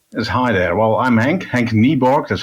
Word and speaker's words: Henk Nieborg: Well, I'm Henk Nieborg, that's how you pronounce it actually.